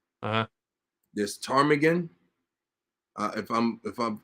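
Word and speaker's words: ptarmigan: right I'll spell it for you I'm gonna spell it for you okay so Willow spelled correctly right uh this tarmigan uh if I'm if I've heard you correctly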